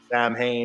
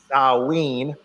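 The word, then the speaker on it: Samhain: 13th and runs to the 31st for Saline Sam Hayne whatever you want to call it I always say sam Hayne but I should say it's pronounced uh ween and we know that this is when the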